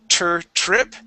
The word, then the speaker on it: trip: English, they don't say trip. No, it's crazy. They say trip. Okay? They talk like a regular normal person. Trip. Okay? And we pronounce that T like a CH sound.